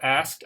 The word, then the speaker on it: asked: sounds actually it's it's the k k sound is here like a t choked so it's it's like a t sound at the ending okay so asked i asked a question